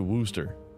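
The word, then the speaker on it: Worcester: s t e r they pronounce it Wooster foot a forensics evidence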